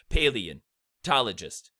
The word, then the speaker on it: paleontologist: There are 2 stressed syllables in paleontologist, and there's 4 unstressed syllables. So paleontologist. That's how it breaks down.